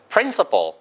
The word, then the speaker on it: principle: principle. prin의 액센트가 있기 때문에 씨풀이라고 안 들려요. principle이 아니고요. principle처럼 들려요.